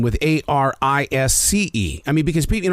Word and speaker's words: Arisce: So, what is the correct pronunciation? Yeah, and it's not what you think. Yeah, Arisce? What is it? It's Arisce.